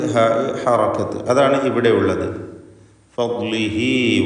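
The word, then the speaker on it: فضله: മിൻ ഫദ്ലിഹി ഫദ്ലിഹി ദ്വാദിൻ്റെ ഉച്ചാരണമാണ് പ്രത്യേകം ശ്രദ്ധിക്കേണ്ടത്. നാവിൻ്റെ ഒരു സൈഡ് നീളത്തിൽ മേലെ അണപ്പല്ലിനോട് ചേർത്താണ് ദ്വാദ് ഉച്ചരിക്കുക.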